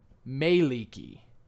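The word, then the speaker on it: Mielikki: stuck in my head all day today because of Mialiki. Excellent. Excellent. But when I looked up Mialiki on the Forgotten Realms wiki, its suggested pronunciation was Maeliki.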